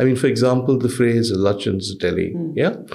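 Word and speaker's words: Lutyens: for example the phrase Lin Delhi yeah which sometimes deliberately but mostly mistakenly mispronounced as Lan is meant as a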